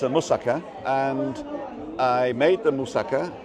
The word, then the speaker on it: moussaka: So anyway, I got home and I've already cooked a moussaka.